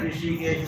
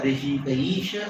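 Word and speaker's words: हृषीकेश: Rishikayena Rishikaisha Sevanam Bhakti Ruchate. You should know proper pronunciation. Many times what is it? Rishikena Rishikesha, or what? I don't know what it means. Actually, Rishikayena Rishikaisha Sevanam.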